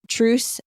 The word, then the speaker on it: Truece: This episode was sponsored by Truce, the app for co-parenting and blended families. It sounds just like Truce, as in like compromising and not fighting anymore, but it's spelled TRUECE.